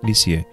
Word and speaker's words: Lisieux: vivir a un pueblo llamado leaks ya que se pronuncia lisieux por eso la llamarán